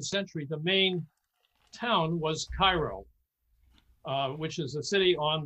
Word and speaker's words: Cairo: turn of the century the main town was cairo which is a city on the mississippi now it's not pronounced cairo down there it's called cairo naturally naturally and and i was i